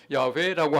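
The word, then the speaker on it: 야훼: 주님이라는 말은 아도나이라고 하는 말인데 아도나이라고 하는 말에 모음을 떼 가지고 야외라고 하는 자에다 붙여 놓으니까 이게 여호와라고 그렇게 불렀어요. 그 최근에 와서는 야외라고 하는 것이 가장 정확한 발음이다 이렇게 말하고 있어요.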